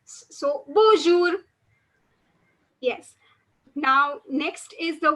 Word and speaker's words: bonjour: in french is bonjour bonjour because the n is not pronounced over here so you won't say bonjour but you would say bonjour now this is by